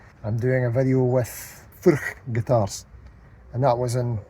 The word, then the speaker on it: Furch: Hello, we're at 42 Gear Street here, Steve Cassidy guitar, and we're looking at some Furch. Furch.